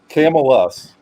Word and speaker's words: Camillus: Thrifty's giving me some pronunciation lessons here. Camillus.